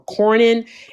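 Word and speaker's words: Cornyn: Crockett along with, uh, I always get his name wrong, Cornin and um, Paxton.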